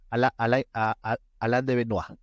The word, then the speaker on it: Alain de Benoist: En francés es Alain de Benoist. Me he esforzado para pronunciarlo en francés.